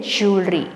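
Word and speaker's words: jewellery: सो यहां पे हम बात कर रहे हैं ये जो वर्ड है इसको कहते हैं ज्वेलरी। ठीक है? सो ज्वेलरी है ये ज्वेलरी नहीं है।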